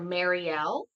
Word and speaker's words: Marielle: it because you okay you can pronounce my name like Marie so I would say Marie with the L at the end so would it be marel or Marielle Marie L why did